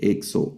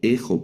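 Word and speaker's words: ἔξω: Esta palabra que son palabras monosilábicas, este, esta otra palabra que se lee exo o ejo podría leerse también.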